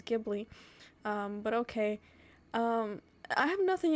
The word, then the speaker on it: Ghibli: Apparently it's pronounced Ghibli, and I was pronouncing it wrong my whole life. I thought it was Ghibli, but okay.